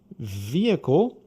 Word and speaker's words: vehicle: Vehicle, mesma coisa. Não tem som de H, então é vehicle.